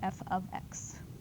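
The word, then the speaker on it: f(x): X and then F parentheses x is actually pronounced F ofx right here okay so goad and jot down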